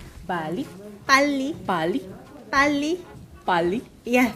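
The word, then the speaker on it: 빨리: It means, you pronounce it bali. Bali.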